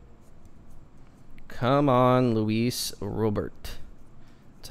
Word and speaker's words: Luis Robert: have a good week all right come on luis robert that's how you pronounce his name i'm trying to make that